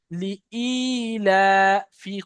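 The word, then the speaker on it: لإيلاف: লি ই, লি ই, লাম আলাদা উচ্চারণ, হামজা আলাদা উচ্চারণ। লি ই লা, লি ই লা ফি কুরাইশ।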